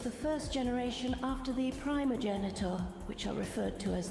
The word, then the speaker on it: primogenitor: The primogenitor. Yeah, the primogenitor. Primogenitor. It has pronounced it multiple ways.